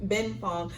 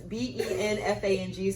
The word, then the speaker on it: Benfang: Ben Fong. So people are they're gonna pronounce it wrong the way it's spelled. I have it in all caps. It's BENFANG.